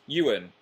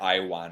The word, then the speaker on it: Ewan: I thought it was like Iwan or something.